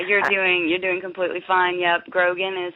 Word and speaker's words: Grogan: Yep, Grogan is how you say it.